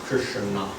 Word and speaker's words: Krishna: The name Krishna is divided into two syllables, Krishna.